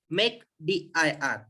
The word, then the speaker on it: mkdir: तो देखो simple command है माय डियर इसके लिए, मेक dir। देखो MK, देखो आपने इसका प्रोनाउंसिएशन भी करने जाएंगे ना तो डायरेक्ट मेक हो जाता है।